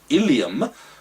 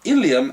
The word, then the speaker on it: ileum: Then the food, or the broken down food, now moves into the last part of the small colon called the ileum, and this is where you need to be careful on your spelling, because ileum also pertains to the hip bone.